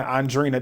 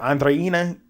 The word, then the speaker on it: Olandria: Let me try and state it because I've been saying Andrina the entire time. What is it? Andreena. I might have said it right, but you get it.